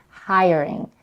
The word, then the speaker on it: hiring: Here, she stresses on hiring. The primary stress is on the first syllable, hiring.